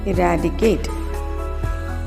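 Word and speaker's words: eradicate: இராடிகேட் அப்படின்வாங்க. அப்படி சொல்லக்கூடாதுங்க. ஈ தனியாக வந்துடணுங்க. இராடிகேட். இராடிகேட்.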